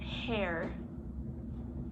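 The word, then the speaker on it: Herr: man and their english so they pronounce it hair it's supposed to be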